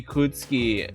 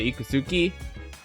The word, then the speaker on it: Ikutsuki: Why would your name be Ikutsuki and not Ikusuki? Do you really pronounce his name Ikutsuki instead of Ikusuki?